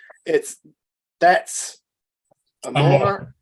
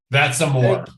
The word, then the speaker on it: That's Amor: That's Amor. That's Amor. Yeah. I've been saying it right the whole time. Yeah, because I think we're used to seeing Amore with an E, And Yes.